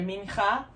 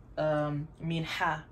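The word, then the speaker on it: מנחה: I've heard it said a mincha, but it makes more sense when the het is pronounced like different from the chaf or kaf. So I say the way I was taught, mincha. So the mincha offering.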